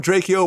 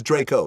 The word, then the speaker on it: Drakeo: son love dra Yo's music I think it's pronounced Draco Draco yeah I remember I call him drao once and he was like Draco dra it is Draco let me it's spelled kind of drao but it's Draco yeah but uh my son loved him U